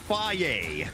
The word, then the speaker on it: phage: Oh, oh, oh, just so you know, the bottom one is pronounced Faye. Learn that it's the phage. Hard way. Yes. It's phage.